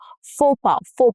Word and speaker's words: faux: Pha so x is silent.